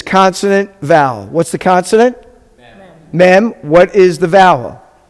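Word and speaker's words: מי: Mem.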